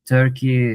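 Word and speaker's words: Türkiye: Well, um officially Turkey has changed its name.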